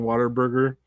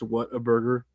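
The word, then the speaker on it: Whataburger: I know a lot of Mexican girls like saying Waterburger, even though it's What a Burger.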